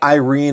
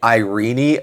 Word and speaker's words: Irene: And I'm saying Irene Iguanas because that's the common pronunciation, but I am always tempted to say Irene Iguanas, like Princess Irene from Princess and the Goblin.